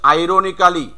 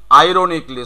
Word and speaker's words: ironically: Next one ইজ আইরোনিক্যালি, Ironically. Bangladeshi উচ্চারণ, তুমি বিদেশিটা করো, কি হবে? Ironically. আইরোনিকলি। সো you have to keep silent এ, তোমাকে এটাকে এখানে হাইড করতে হবে, এটাকে পুরো এই 91